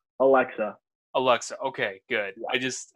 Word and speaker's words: Aleska: I'm I feel like I'm gonna save like Alexa Alexa okay good I just I didn't want